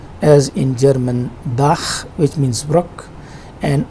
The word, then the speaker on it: Bach: For example, in German language we have this word, it is pronounced as Bach and it means brook.